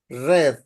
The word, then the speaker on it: read: pronunciation in past is red the same spelling the same writing but different pronunciation so we have have